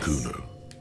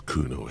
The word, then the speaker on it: Kuno: it if you fail it's not Kuno It's kunos s kunos s kunos is how you pronounce it okay hm interesting